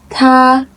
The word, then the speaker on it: 他: 他 First tone, he.